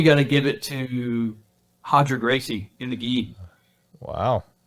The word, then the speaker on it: Roger: Yeah, it's spelled Roger, but yeah, Hodger Gracie with the gi.